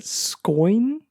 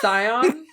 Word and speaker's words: Scion: know how to say is it scoin it's scion of sorcery scoin scion of sorcery